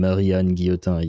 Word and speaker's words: Marie-Anne Guillotin: You pronounced the name correctly. Well, yeah, but I'm French. If I couldn't pronounce that name correctly, I would be something weird. But yeah, the name is very much French, so yeah, thank God I can pronounce it.